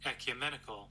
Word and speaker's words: ecumenical: Ecumenical. Oh my god, I would have pronounced that wrong.